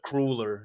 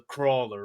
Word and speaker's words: Crawler: I kind of picked up, oh, he's technicality, he's not the crueler, he's the crawler, right?